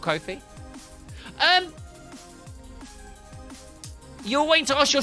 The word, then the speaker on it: Ko-fi: Rhymes with no fee.